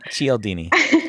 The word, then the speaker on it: Cialdini: According to, I also have no idea how to pronounce this. I think it's Cialdini. Cialdini. Thank you. Cialdini.